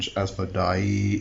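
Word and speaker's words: Asmodai: So the difference here is in the spelling. It's A-S-M-O-D-A-Y, which is Asmodee, and Asmodei is A-S-M-O-D-A-I. So I'm going to exaggerate the pronunciations a bit so you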